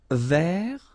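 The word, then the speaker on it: vert: Feminine rou remember rou ver so masculine form don't pronounce the final T ver feminine form ver so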